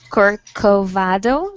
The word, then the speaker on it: Corcovado: can i get to corcovado statue okay um you in fact he pronounced it quite well yeah uh uh it's kirk covado that's all right well